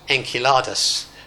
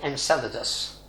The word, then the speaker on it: Enceladus: currently is in coladas the astronomers have decided this is called Enceladus no guys it isn't it's a Greek word and they're in two cards there is a soft C in the Greek word is in coladas it's a Kappa that